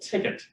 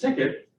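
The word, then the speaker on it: tket: development kit which in our case is called ticket if you're curious about the name our first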